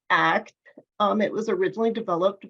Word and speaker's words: ACT: to treatments next slide um so act is pronounced act um it was originally developed by Stephen Hayes